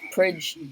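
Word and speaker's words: pridge: him of the bridge bridge it's spelt with a p because as we were looking at dialect the other day this is his welsh accent god bless god bless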